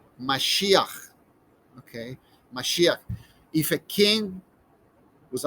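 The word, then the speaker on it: מָשִׁיחַ: yold and then finally this girl sound that sounds like mashiach okay if a king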